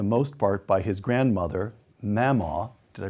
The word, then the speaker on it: Mamaw: raised for the most part by his grandmother, Mamaw. Did I pronounce that correctly?